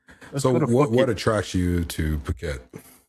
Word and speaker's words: Phuket: how it looks but that's not how they pronunciate it. But it Thailand. Oh, it's Phuket. It's Phuket.